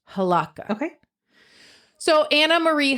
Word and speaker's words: Hlavka: okay I'm GNA tell you about Anna Marie halaka okay halaka that's how you pronounce it h it's HL it's h l a v Ka a but I'm pretty sure it's pronounced halaka okay so Anna Marie halaka was born in 1958 in Portland Oregon oh